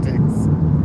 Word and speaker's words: SSTC: They call it Sticks, SSTC. But I always thought it was SSTX for Sticks, but no, they said it's, or STYX. They said, no, it's SSTC, and they pronounce it Sticks.